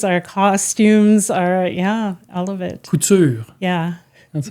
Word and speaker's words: Couture: was some government Couture, and she says, Couture. Couture! There you go. That's how you say it.